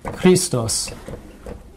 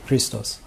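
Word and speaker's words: Χριστός: And by the way, if you say Christos with the accent on the os, that's only Jesus Christ, but people can have the name Christos.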